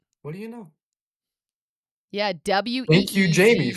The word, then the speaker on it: Uyghur: Oh, it is Uyghur. Wow. What do you know? Yeah, WEEGU Thank you, Jamie, for is the informing us.